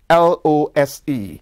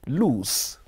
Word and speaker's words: lose: careful how you used l o s e lose and l o o s e lose in terms of pronunciation lose that's l o s e has the z sound in it while loose that is